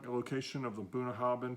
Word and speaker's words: Bunnahabhain: the I don't like the location of the buna haben pronounced boom ha then and meaning mouth of the river in Gaelic